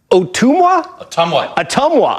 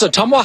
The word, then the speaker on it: Ottumwa: And Jacob, I think I'm going to pronounce this right. Ottumwa? Ottumwa.